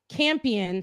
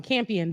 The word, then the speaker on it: Campion: anyways in her speech champion so i've been saying her name wrong campion the only woman nominated